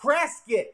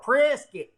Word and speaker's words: Prescott: hey sarah i like the hair prop prescott presskit the locals here call it prisky don't ask me why it's pronounced prayer skit but i love prasca i